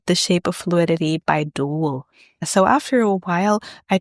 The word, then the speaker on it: Duel: shape of fluidity by Dutch band duel. It's spelled like tulle but with a d.